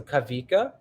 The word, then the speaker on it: Kawika: aloha has various meanings kawika is spelled with a w but sounded like a v so kavika ah cool okay speaking